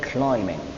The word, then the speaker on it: climbing: so much attention that I do not pronounce it the P letter in this word it's silent so I would say climbing climbing mountains also is